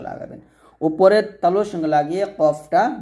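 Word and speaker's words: ق: উপরের তালুর সঙ্গে লাগিয়ে কফটা মোটা করে কফটা কি করে মোটা করে এবং পাল্টা আওয়াজ করে পাল্টা আওয়াজ করে কফটা উচ্চারণ করতে হবে এভাবে তফ লাস্টে বাতাস বের করবেন তফ এরকম ভাবে উচ্চারণ করবেন কফ বলবেন না বলতে হবে কফ এভাবে আপনারা কফটা উচ্চারণ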